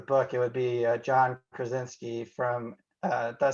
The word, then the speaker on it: Krasinski: movie of the book, it would be John Krasinski from did I say it right, from The Office? Yep. John Krasinski.